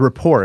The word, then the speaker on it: rapport: report Advantage yes the Rapport Advantage yes report Advantage with a t but that tea is silent the report Advantage we're